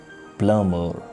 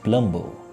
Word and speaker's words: plumber: is comment not comment we have a list of common words where b is totally silent but we mispronounce it like plumber but we mispronounce it plumbo climb the correct